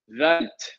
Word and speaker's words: Wundt: to talk about is Vilhelm vent or Wilhelm wundt it once blended all right he pronounces his name Bilhah but German and he had the